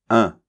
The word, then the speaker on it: un: c'est un donc attention ça se prononce avec la nasale ok 1 un d'accord bien féminin une